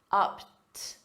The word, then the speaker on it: upped: The ED is pronounced as a soft T, upped, upped the ante.